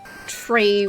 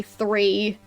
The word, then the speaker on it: three: Speaking of the tree 3 thing, like, I personally know how difficult it can be to pronounce the TH. But for me, it's definitely a pet peeve when people say tree when they mean to say 3.